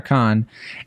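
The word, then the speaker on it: Cannes: how to pronounce can it's literally either can or KH and you always you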